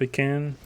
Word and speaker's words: pecan: do you think about people who pronounce it pecan instead of a can i don't know i say it both ways is that an answer